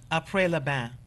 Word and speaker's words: Après le bain: Would you pronounce that? Après le bain, which means after bathing in French.